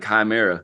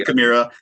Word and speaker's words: Chimaira: It was kind of funny because we used to pronounce it like Chimera, like, oh man, I used to Chimera.